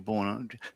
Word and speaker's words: Beau: They did a segment where one of our rugby players, I think it was Bo Ryan, but his name is spelt like Beau, Bo.